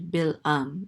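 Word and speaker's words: בלעם: but um I heard I think the Hebrew pronunciation of this word is actually bill um bill um so he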